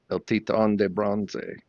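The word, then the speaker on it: El Titán de Bronze: pronounce it she says when Americans call she says El Titan de bronze and when the Cubans call she says El TI on bronze nice yeah she's a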